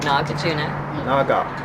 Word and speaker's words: Nagarjuna: How do we pronounce it here? Suba. Shakyamuni. I know Shakyamuni. Suba Charisma. Shakyamuni. Nagarjuna.